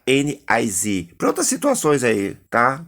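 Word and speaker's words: NYSE: Bolsa de Nova York, se escreve NICE, mas se pronuncia NIZ.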